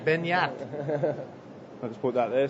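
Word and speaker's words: Beñat: We're totally saying it wrong, I think. Yeah. We need a French accent when we say his name. I believe he is from France. No, he is... no, he's from Spain. Oh, so we need a Spanish accent. Yeah. Benyat.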